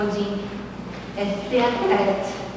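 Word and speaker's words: Odin Teatret: de seus estudos na Europa, tendo passado pelo Odin Theatret, na verdade a pronúncia correta, e que ministrou um workshop em São Paulo.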